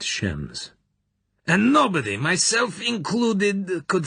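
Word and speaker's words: James: his voice was sarcastic shems Bond he pronounced it shems and nobody myself included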